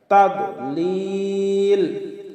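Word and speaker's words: تَضْلِيلٍ: আইন হলকের মধ্যখান থেকে একটু চাপ দিয়ে আমরা উচ্চারণ করব। ইয়াজআল কাইদাহুম ফি, ফিতে একালিফ টান হবে। তাদলিল, আমরা অনেকে পাঠ করি তাদ, দদকে দাল বানিয়ে ফেলি।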